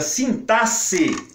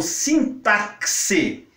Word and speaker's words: sintaxe: Celso Luft recomenda a pronúncia sintaxe, com X com som de sibilante, surda, que é esse aqui que eu estou fazendo.